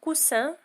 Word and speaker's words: coussin: coussin تنطق coussin، تكتب ب 2S، هي الوسادة.